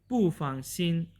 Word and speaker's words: 不放心: this word from so when you are speaking two uh proton syllables uh together then the first proton syllable will changes into a second tone like this pufang so it means that